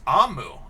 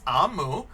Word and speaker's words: Omu: us we're the readers omu pronounced oh it's pronounced amu amu i was saying that wrong my goodness it's amu is the igbo term for queen so this